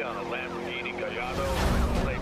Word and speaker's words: Gallardo: Code 3 on a Lamborghini Gallardo. Yeah, Gallardo. See, I'm pronouncing it right.